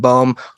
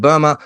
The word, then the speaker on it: Böhme: So, Hildegard von Bingen, Jacob, some people call him Jacob Bohm. I think a closer, true pronunciation would be Jakob Böhme.